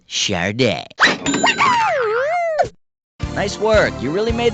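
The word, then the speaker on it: Sade: is spelled s-a-d-e how the heck do you pronounce that sure day Sadie sad or soda for you I'd suggest a complete makeover player two player three go for it it's pronounced Char day nice work you really made the grade I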